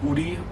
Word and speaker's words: 우리: So this would be like this example we have 우리, which would mean us or we, and in this example here it would actually be silent, as you can see.